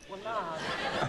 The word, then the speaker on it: Willard: Accent on the lard. Willard.